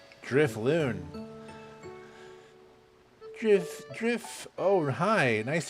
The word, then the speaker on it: Drifloon: Is this Drifloon? Is that how you say his name? Drifloon.